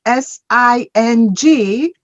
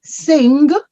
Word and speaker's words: sing: But when you pronounce it, you do not pronounce the G. So you're going to look at SING and you are not going to say sing.